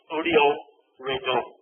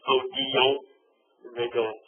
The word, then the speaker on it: Odilon Redon: Odilon Redon. The L is silent. Odilon Redon.